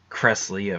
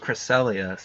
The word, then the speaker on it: Cresselia: it the whole time I call it Cresselia kress Leah for years and then I heard someone say cristela I was like wait have I been saying that wrong the whole time turns out I was it's actually pronounced crecelius I was like oh